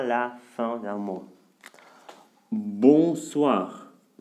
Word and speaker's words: bonsoir: Bonsoir. Bonsoir. Nasal, parce que c'est devant un consonne.